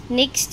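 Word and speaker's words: knock: के की साउंड है वह क्या हो जाएगी साइलेंट हो जाएगी नेक्स्ट है हमारे पास नॉलेज सेम एन से पहले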